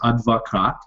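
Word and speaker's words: адвокат: So the Russian pronunciation is advokat, and it means lawyer. Advokat obviously comes from the same root as advocate or advocate, which is kind of a word that we kind of use in English to mean the same thing. But yeah, that's kind of how it works. Advokat is how it's pronounced.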